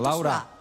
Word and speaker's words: Laurà: Laura, con l'accento Laura. su A.